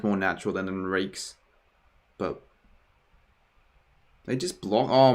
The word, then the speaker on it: Enriquez: Well, it's all up to Enriquez here, really. Or Enriquez, as AFL18 said. That's how you say his name.